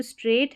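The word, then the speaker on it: straight: यह जो स्ट्रेट है ना यह स्ट्रेट। यहां पर यह जीएच साइलेंट है।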